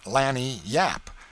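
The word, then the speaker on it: lagniappe: limber expressive handy word lanyap they pronounce it Lanny Yap it is Spanish so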